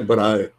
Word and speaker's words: Brahe: Eu procurei saber, a pronúncia é Brahe.